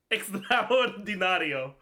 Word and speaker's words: extraordinario: No, it's on the A. Extraordinario. Because it's always on the second to last syllable, but is the ri a syllable or is the rio a syllable?